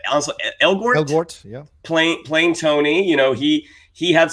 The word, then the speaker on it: Elgort: Elgort, yeah.